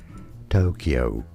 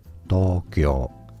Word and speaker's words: Tokyo: So, in English, it is said as Tokyo. Tokyo. Now, if you want to hear how it is said in Japanese, it is normally pronounced normally there in Japan as Tokyo.